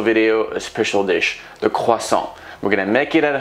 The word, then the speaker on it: croissant: freshly baked butter croissant it's pronounced croissant and if you can't silent tea i will silence you today is a